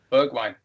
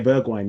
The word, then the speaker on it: Bergwijn: pronounce his name. Huh? Bergwijn. Yeah, Bergwijn.